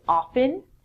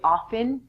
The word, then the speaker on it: often: In North America, people would say often. I'm inclined to say often. It's your choice. From this lesson, if you want to say often, the T is silent.